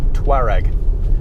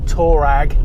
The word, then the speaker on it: Touareg: people from the sahara tuareg not torag not tol rag not toe rag not